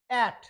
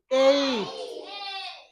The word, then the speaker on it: ate: কিন্তু এই শেষে যে ই আছে, ই উচ্চারিত হবে না। যেমন এ টি ই, এ প্লাস টিটা কনসোনেন্ট প্লাস ই, তো এটা আমরা বলি অ্যাট, হবে কি এইট।